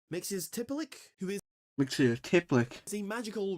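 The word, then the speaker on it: Mxyzptlk: Mixiospitalik, or as this original version is pronounced, Mixiospitalik, who is Mixie-tiplick.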